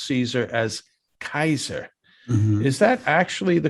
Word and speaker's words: Caesar: c in latin so all of the initial c's are pronounced like k's and we get that